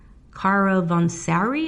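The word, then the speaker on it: Caravanserai: on how do you say this Cara it's caravansary ax e AR a VA n SC AR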